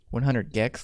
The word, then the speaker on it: 100 gecs: 100 Gex, like geckos.